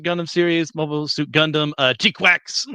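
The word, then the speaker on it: GQuuuuuuX: The newest Mobile Suit Gundam series, Mobile Suit Gundam, G-Quax, that's how you're supposed to pronounce all those different U's, is out.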